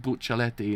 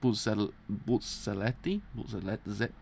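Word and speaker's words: Bucciarati: I pronounce it Buccelleti, and it's not. It's actually with a Z apparently. So it's like Bulcelletti, something like that.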